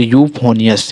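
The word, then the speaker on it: euphonious: यू देखिए इ यू यू पी एच ओ एन आई ओ एस यू फोनियस इस प्रकार से जब आपको इयू मिलता है तो उसका चरण यू कर देना है आपको ठीक है और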